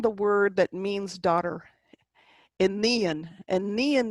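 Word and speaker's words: iníon: Enian is the word that means daughter. It is not onion.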